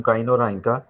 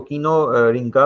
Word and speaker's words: Kinorhyncha: इसी तरह से थर्ड फाइलम है फाइलम काइनोराइंका। तो इसको कीनो रिंका भी पढ़ सकते हैं आप, ठीक है, इसकी प्रोनाउंसिएशन कोई भी हो सकती है।